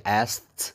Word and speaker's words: asked: Itu bacanya asked, itu bisa asked pakai T, asked karena ASKT itu guys, asked. Nah, kalau kalian sebenarnya udah disingkat sih, ASKT itu jadi asked pakai T, asked. Ya, kalau nggak percaya coba